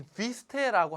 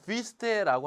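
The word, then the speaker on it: Wüste: 요거는 독일어의 자, 이 비스테라고 하는 것의 약자입니다. 여기 보면 또 우음라우트라고 해서 이렇게 점 두 개를 땡땡 찍었습니다. 이러면 이거를 입을 이렇게 움직이지 않고 으라고 발음해야 되는 거예요. 그러면은 비스테라고 하는 건데요.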